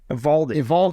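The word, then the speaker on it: Eovaldi: The O is silent. Evaldi.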